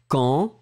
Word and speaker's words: quand: So I will pronounce quand. I will pronounce bidonville. So everything is going in the nose and you don't hear any N.